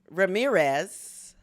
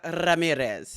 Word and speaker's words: Ramirez: uh pronunciation is Sarah Ramirez but I think I got it right it's Sarah Ramirez did I get that correct you really rolled that R and you also got